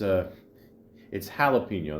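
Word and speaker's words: jalapeño: turns to me and she goes, Mike, what's jalapeno? And I go, no, it's jalapeno.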